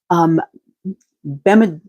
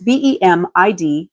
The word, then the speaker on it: Bamidbar: So this week's portion, week 34, is Bamidbar. No idea how it's truly pronounced, but it's Bemidbar.